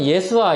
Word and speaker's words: 예수아: 히브리어 발음으로는 여호수아 또는 예수아 이렇게 발음을 하는 그런 이름이었습니다.